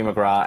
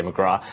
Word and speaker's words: McGrath: Excuse me, I'm Australian, we say McGrath, and Jim Gray. That's how you pronounce McGrath? Well, there's a very big real estate company called McGrath Real Estate. So just in my mind, I'm like McGrath, sorry. McGrath. TH, yeah.